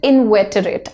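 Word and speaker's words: inveterate: answers the word is इंवेटरेट हाउ डू you pronounce it इंवेटरेट again कोई जो अपनी पुराने पैटर्स को बिलीव्स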